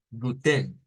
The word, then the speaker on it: guten: el caso del alemán gu gu guten es como decirles Mira es guten guten guten bueno ahí tendríamos